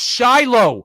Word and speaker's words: Shiloh: I have no idea how to pronounce that first name. It's Shiloh, you dumb motherfucker.